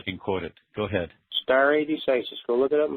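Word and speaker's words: stare decisis: again so I can quote it go ahead star a decisis go look it up in Black dictionary it's spelled s t a r a e star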